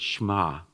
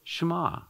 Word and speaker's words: shema: And that's the Hebrew word for hear, often translated here, is the word shema. It's S-H-E-M-A-H, but we kind of drop the E as we pronounce it.